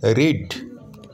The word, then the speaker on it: read: EA এর উচ্চারণটা কিন্তু দীর্ঘ ইকার হয়। যদি ই এবং এ পাশাপাশি থাকে তাহলে উচ্চারণটা হবে দীর্ঘ ইকার।